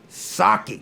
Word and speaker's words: Socci: Dr yeah gorgeous drink that's why I say saki like the drink but no one can get it correct because I think what's